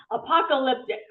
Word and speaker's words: apocalyptic: How do you pronounce it? Apocalyptic.